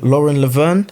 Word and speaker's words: Lauren Laverne: And I think Lauren Laverne, that's how you say her name?